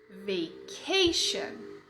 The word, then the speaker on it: vacation: Vacation. Vacation. Tá rolando? Vocês estão pronunciando aí comigo? Como em sure. Exatamente. O sh de vacation é o mesmo sh de sure.